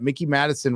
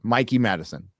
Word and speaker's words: Mikey Madison: Campia recently said that Mickey Madison was offered a role.